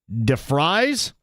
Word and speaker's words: DeVries: but at West Virginia, they pronounce DeVries like DeFries, like French fries.